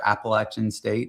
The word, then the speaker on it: Appalachian: So, a small uh tertiary market in Northwest North Carolina, home of App State uh University or Appalachin State if you're saying it correctly.